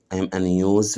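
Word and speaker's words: news: اي ان نيوز ريدر نيوز ريدر نيوز ريدر طبعا الاس هنا بننطقها زد نيوز نيوز ريدر نيوز ريدر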